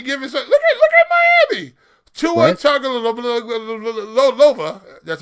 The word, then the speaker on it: Tagovailoa: Tua Tagovailoa. That's how we pronounce his name now.